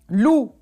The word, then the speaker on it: loup: Loup. Non. On voit la lettre P, mais on n'entend pas le son P. Loup.